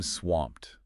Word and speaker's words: swamped: A classic is I'm swamped. You know, like you're drowning in work. Remember that ED ending? Often sounds like a swamp. Swamped. Yeah, I feel that sometimes.